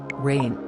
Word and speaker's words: Reign: disick the youngest disick rain pronounced like rain was born on december